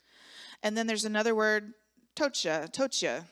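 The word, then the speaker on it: πτωχεία: And then there's another word, tochia. So I'm assuming the P is silent, P-T-O-C-H-I-A.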